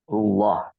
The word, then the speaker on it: الله: Kemudian di bacaan Allah itu lafzul jalalah dan sebelumnya ada dhammah dan maka bacanya tebal ya, tafkhim. Allah.